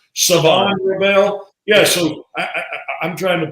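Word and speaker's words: Shavon Revel: They said the H is silent on. Is it Savon Rebel?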